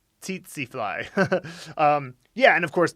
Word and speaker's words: tsetse: This is a bit confusing, but the only ts initial I can think of in English is tsetse fly, tsetse fly.